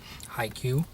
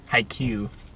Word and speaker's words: Haikyuu: Haiku. Mm-hmm. Like the 7 syllables, 5 No, syllables. that's a haiku. Oh. Haikyuu.